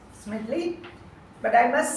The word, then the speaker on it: Smedley: Smedley, but I must say that you pronounced it as Ralph C. Medley.